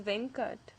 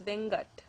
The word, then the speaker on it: Venkat: And another common Tamil name is Venkat, but it can also be pronounced as Vengat.